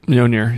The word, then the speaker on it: Mjolnir: And then it hit the Mjolnir. That's how you say it, right? Mjolnir.